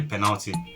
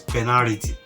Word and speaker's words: penalty: is awarded and you know it's just simply penalty penalized for growing up used to pronounce that word as penality p e n a r i t y